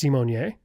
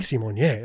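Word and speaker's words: Symoné: Raven said her last name is pronounced Simonier.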